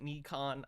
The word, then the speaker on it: Nikon: The camera he's talking about, the Nikon, sorry, I know some people pronounce it Nikon, I say Nikon.